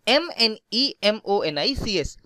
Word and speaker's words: mnemonics: These are termed as mnemonics and the spelling of mnemonics is MNEMONICS. याद रखना इसमें ये M silent होता है.